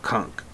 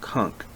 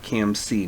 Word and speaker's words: Camc: Noel, I believe it's pronounced Kunk. What? His name. His name is pronounced Kunk, not KMC, Noel.